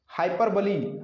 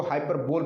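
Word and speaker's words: hyperbole: हाइपरबली, हाइपरबली मतलब होता है अतिशयोक्ति। प्रोनाउंसिएशन पर विशेष ध्यान रखिएगा, 99% लोग इसको हाइपरबोल पढ़ते हैं, जो कि सरासर गलत है। इसका प्रोनाउंसिएशन होता है हाइपरबली।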